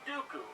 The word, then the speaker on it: Dooku: the white and the rhymes with poopoo count dooku from the word star